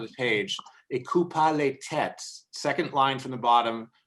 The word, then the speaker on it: tête: They got rid of the S because nobody pronounced it, replaced it with a circumflex, but it's tête.